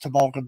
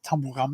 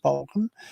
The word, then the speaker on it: Tumbulgum: It's pronounced Tumbulgum, but some people say it's Tumblegum. It's Tumbulgum.